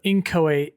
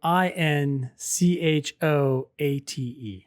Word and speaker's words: inchoate: So inchoate is the word that's spelled INCHOATE. Yes. Cool. Inchoate. Oh, and we keep saying, or I keep saying inchoate, but the little pronouncer here on Merriam-Webster anyway says inchoate.